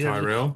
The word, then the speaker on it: Tyrrell: Anyway, they've just done Formula One, and aside from the American presenter not knowing how to pronounce the team Tyrrell or Ken Tyrrell because Tyrell. it's Ken Tyrell.